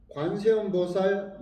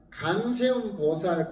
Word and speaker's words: 관세음보살: 관세음보살 명호를 올바르게 불러야 함이 마땅하지만 노보살님의 경우에 그렇게 발음이 안 되는 분도 있습니다. 당신은 간세음보살, 간세음보살 이렇게 하지만은 당신의 모든 정성과 생각은 우리들의 기처 관세음보살님을 생각하고 염원하고 있지 않는가 하는 거예요.